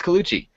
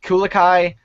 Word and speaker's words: Colucci: They were like, oh yeah, I think that's Italian, it's Colucci. And I'm like, oh, I was like, Colucci, Kulikai.